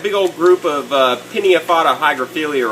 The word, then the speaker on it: hygrophila: You know, I always thought you said hygrophilia, but if you actually look at the word, it's, you know, it makes sense that it's pronounced hygrophila.